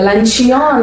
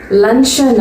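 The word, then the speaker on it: luncheon: இதை லன்ச்சியான் அப்படின்னு படிக்கக்கூடாது, லன்ச்சன் அப்படி தான் படிக்கணும்.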